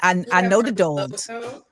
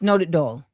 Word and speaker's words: Nodutdol: I Nodutdol. How do you properly pronounce Nodutdol? Am I doing it right? You're doing great. Nodutdol. Nodutdol. Yeah, perfect.